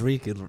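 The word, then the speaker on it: Reek: name my name is reka it live it rhymes with Meek like it's just this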